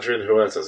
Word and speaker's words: Huertas: Adrian Huertas is how I pronounce it.